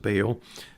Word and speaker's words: Baal: Now, the prophets he's speaking there are the prophets of Baal, as Daniel pronounced it, Baal, as I'm used to hearing it. Those are the prophets of Baal.